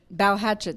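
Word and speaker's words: Balhetchet: cougar films with producer sophie uh balochi and pronounced bow hatchet sorry to develop and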